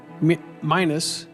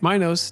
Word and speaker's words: Minos: As punishment for past rebellions, Minus I'm almost saying his name wrong now. That's all right. Minos demanded a brutal tribute.